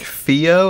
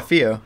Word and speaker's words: Fio: It's spelled F-I-O. How do you say that? It's like Fio? I don't know. Yeah, Fio. That's how they always pronounced it.